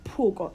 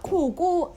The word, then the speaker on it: Poco: is it the pronounce it's Poco and it's also not Coco people guys it is